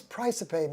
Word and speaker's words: Praesepe: But now tell me, what does Praesepe mean?